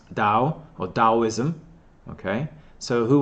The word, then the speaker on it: Tao: of the Dao okay or spell tal tal but pronounce Dow or Taoism okay so